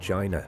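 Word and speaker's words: Qin: legendary unifier of ancient China he gave himself the title hang D which means Sovereign Sage emperor in English his very name is where the country gets its name from chin pronounced like chin is the base of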